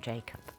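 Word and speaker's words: Jakub: It's spelt that way, but he pronounces his name Jacob, which is just gorgeous.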